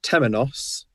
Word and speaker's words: temenos: george what is it what's the production in the singular it's pronounced temenos yeah i do not know